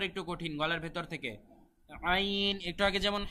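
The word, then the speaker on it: ع: বলবো এটা আবার একটু কঠিন গলার ভেতর থেকে আইন একটু আগে যেমন হা বলেছিলাম হা গলার ভেতর থেকে এটাও তেমনি গলার ভেতর থেকে আইন অনেকে বলে আইন আইন বললে হবে না বলতে হবে আইন আ এভাবে আ বললে হবে না আ দেখেন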